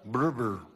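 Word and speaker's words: Brewer: Alan Breber Carías, se escribe Breber, pero se pronuncia Breber.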